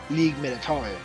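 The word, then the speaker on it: Ligue Militaire: that's how you pronounce it in French, but in English it would be military. Because one of the bad guys actually called it League Militare. But they, like the people, like this girl, she pronounces like League Militaire. Okay. So it could be both ways, really. But League Militaire, I'm willing to believe is the actual pronunciation.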